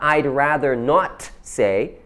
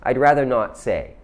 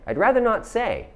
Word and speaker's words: I'd rather not say: It's not I'd rather not say, but it's I'd rather not say. I'd rather not say. That T is really soft, almost silent.